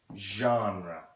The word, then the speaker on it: genre: thing called musical genre say it with me genre well let's see how that word is spelled ge and r e but this G